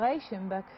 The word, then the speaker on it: Reichenbach: des meringer et s'appelle Reichenbach c'est comme ça que ça prononce reichenb à 1 km à